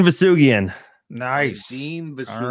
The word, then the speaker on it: Vousoughian: Farzin, Vousoughian.